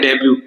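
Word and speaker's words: debut: अच्छा D bunk then डेब्यू ये बड़ा अच्छा है डेब्यू बोलते है टी साइलेंट है इसमें डेब्यू का मतलब होता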